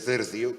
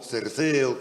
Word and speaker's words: Cercio: A xente de Lalín, por exemplo, prefire que Nuno e Anes de Cercio se pronuncie de Cercio, que é o nome que ten na actualidade a parroquia, que non o Cerceo que figuraba cando estudábamos nós, que parecía que era un topónimo irrecoñecible.